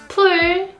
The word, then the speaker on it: 풀: 불, 풀, 뿔.